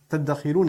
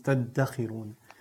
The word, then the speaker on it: تَدَّخِرُونَ: Now, the word dakhar, تَدَّخِرُونَ, is actually dhakhar with a dha. تَذْدَخِرُونَ becomes تَدَّخِرُونَ. This is a principle in sarf, where you fuse letters together that are similar in pronunciation.